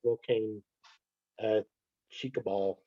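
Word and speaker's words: Volcán Chicabal: Any other questions out there on the Horned Guan and this first site you talked about, this Volcan Chicabal?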